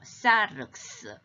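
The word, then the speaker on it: σάρξ: 말씀이 sarx egeneto, sarx, 윽스 발음이죠.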